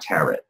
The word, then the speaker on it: tarot: um and it's not tarot and it's not well I've heard so many different pronunciation the t is silent because it's French folks it's tarot yes now some people